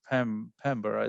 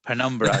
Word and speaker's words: Penumbra: yeah and the way and the way to pronounce it is pembroke isn't it oh is that a number penumbra there you go a number so penumbra is